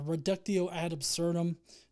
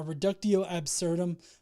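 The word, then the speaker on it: reductio ad absurdum: uh do an um a ruco ad absurdum sorry I pronounced that wrong a reductio absurdum uh on their particular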